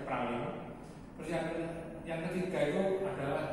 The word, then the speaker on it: Praslin: Pulau yang besarnya yang tempat itu kotanya Victoria, terus pulau kedua yang itu tempatnya hotel saya itu Praslin itu saya Praslin tapi bacanya Pralin.